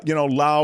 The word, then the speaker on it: Laos: I would always pronounce the S when saying Lao. Yeah, Lao was pronounced Laos for a long time, sadly, during the Vietnam War.